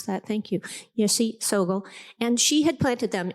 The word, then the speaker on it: Yeshe Tsogyal: Now, these teachings were hidden in the 8th century by this teacher, Yeshe Tsogyal. I always mispronounce that, thank you, Yeshe Tsogyal.